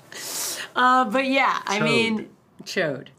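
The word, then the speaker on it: Chaud: but yeah I mean chode just chode I mean that's how it's spelled it's c-h-a-u-d is is the D silent I mean I don't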